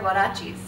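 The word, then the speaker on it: huaraches: guys to know because I hear it being said incorrectly quite a bit, These are huarachis. Huarachis. In Guatemala, we actually call them gaitas quite a bit, gaitas. I hear all different sorts of pronunciations, but they're called huarachis, huarachis.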